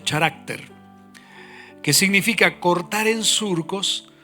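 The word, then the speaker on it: χαρακτήρ: Deriva de una palabra griega que se pronuncia charácter, que significa cortar en surcos o grabar sobre una superficie.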